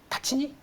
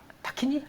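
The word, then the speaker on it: Tacchini: 네, 그래서 테니스 쪽에서 이번에 인수한 브랜드가 세르지오 타치니? 타키니? 네. 네, 원래는 그 이탈리아 발음은 타치니인데 네. 타키니라고 하더라고요. 네, 근데 이게 한때 조코비치라고 아시죠?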